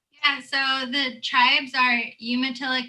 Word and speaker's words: Umatilla: the relationship between the tribes and how to pronounce all of them yeah so the tribes are umatilla cayuse and nest purse um currently right now